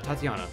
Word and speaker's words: Tatiana: Tatiana. Yeah, that's how you pronounce it.